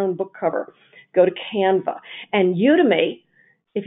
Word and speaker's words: Canva: and another thing called canva canv a not canvas canva canva is a great online system